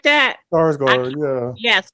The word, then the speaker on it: Skarsgård: Skarsgård, yeah. Yes, Skarsgård.